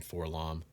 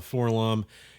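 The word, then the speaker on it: 4-LOM: I know people argue about how to pronounce that. I've always called him Forlom.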